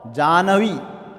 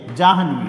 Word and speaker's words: जाह्नवी: ब्रह्मा न होकर के ब्रह्मा होता है, और जानवी न होकर के जाह्नवी होता है।